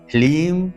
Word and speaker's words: ह्लीम: ओम ह्लीम श्रीम क्लीम नमः। यहाँ पर ह्लीम है, ह्रीम नहीं, ह्लीम, लीम, ह्लीम श्रीम क्लीम, यहाँ पर क्रीम नहीं, बहुत से लोग क्रीम कहते हैं, क्रीम नहीं, क्लीम नमः।